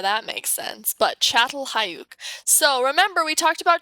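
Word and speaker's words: Çatalhöyük: you actually pronounce it chatel hayuk because apparently this makes a ch sound don't know how that makes sense but chatel hayook so remember we talked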